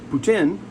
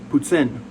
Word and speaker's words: poutine: There's poutine, which is, you know, also accepted, but it's not right. The right way is poutine. It's like like a T and an S put together, poutine.